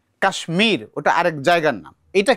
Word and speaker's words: কাশ্মীর: কিন্তু কাশ্মীর যেটা বলেছ কাশ্মীর এখানে ম উচ্চারণ হবে আলাদা করে কাশ্মীর আগে ভেঙেই লিখতো এরপরে যুক্ত হয়েছে ম হবে।